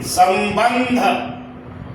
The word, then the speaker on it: संबंध: तो ब के पर जो अनुस्वार है उसके बाद है क्या? ध। ये ध का उच्चारण स्थान क्या है? तवर्ग है। त थ द ध न। अब स्पष्ट हो गया कि संबंध।